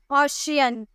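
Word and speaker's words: ocean: ऑशियन, ऑशियन।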